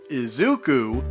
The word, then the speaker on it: Izuku: Apparently within the Japanese kanji of Izuku Midoriya's name, the character Ku, as in Izuku, meaning forever or a long time, shares the exact same pronunciation as the Japanese word for the number 9.